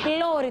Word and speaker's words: πλώρη: Σε ποιο γράμμα τονίζεται το μπροστινό τμήμα του πλοίου? Νάντια. Ωμέγα. Είναι η πλώρη το μπροστινό τμήμα του πλοίου. Πολύ σωστά, Νάντια μου. Το ωμέγα είναι το γράμμα που ψάχνουμε. Πάμε μαζί στον πίνακα.